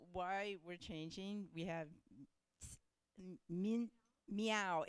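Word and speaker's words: Min: Okay, so why we're changing, we have meow. It's, you know, it's spelled M-I-N, but it's pronounced meow. So it's meow.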